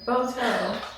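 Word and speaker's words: Boato: are oh the boto it's b o a t o have to get the correct pronunciation boto boto boto boto right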